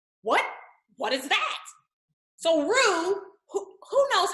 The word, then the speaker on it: roux: make a roux what what is that so rue who knows how it's spelled you know how it who show in the pants how many of you damn it this isn't live okay roux is f roo is like a gravy and it's spelled r-o-u-x